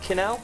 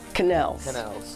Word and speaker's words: quenelle: Quenelle? Quenelles. Quenelles. Right. Right, so basically it's just shaping it between the two It's spoons. Quenelles. Okay. It's actually a French word, and quenelle used to be a poached mousseline, and this